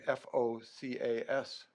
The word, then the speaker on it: FOCAS: I kind of like this because if you abbreviate that for your newsletters or communications, it would be FOCAS Center, the focus. So it's pronounced somewhat like a focus center.